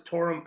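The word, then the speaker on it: Toruń: born in can you can you help me pronounce this torum poland yes that's correct torah in poland correct yeah so tell us about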